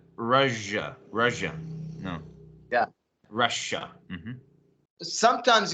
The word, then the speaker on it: Russia: is it Russia or Russia um I believe in an American the the American pronunciation is Rush Russia it's like I'm rushing to do something Russia Russia right yeah